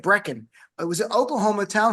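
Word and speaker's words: Brecheen: Republican Congressman Josh Bretten I listen how his name is pronounced. It's a weird name. It's B reheen. It's like Breen.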